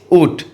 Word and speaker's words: août: Okay, उसके बाद Août, ऊट. अगस्त का फ्रेंच में ऊट बोला जाता है और स्पेलिंग क्या है?